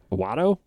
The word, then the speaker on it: Watto: Watto? Yeah. He's- Yeah, Watto's Watto. Is that his blue. name? Yeah, Watto's blue.